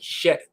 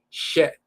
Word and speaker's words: shet: The hy combination in a is the shet and it sounds like shet. So this is pronounced shet to fix, set up, institute.